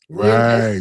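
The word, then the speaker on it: Ouinvest: It's uh We Invest. So, it's spelled We like French, o u i n v e s t dot a i. We Invest dot a i.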